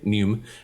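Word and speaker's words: neume: have and it's spelled n-e-u-m-e um but the pronunciation is the same nume right so our play on that is new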